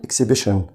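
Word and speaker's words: exhibition: التي اي او ان خلي بالك بتديك مقطع كده اسمه شان فبقول اكسبيشن.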